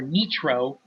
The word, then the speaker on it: Nitro: on to explain that the Nitro or nro as they're supposed to pronounce are troll monsters that